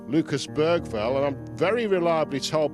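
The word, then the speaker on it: Lucas Bergvall: the man we call Lucas Bergville. And I'm very reliably told by local journalists that if you're going to pronounce it in the Swedish way, you pronounce it Lucas Bal.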